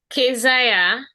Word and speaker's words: Kezia: Kezia. That's how we pronounce it.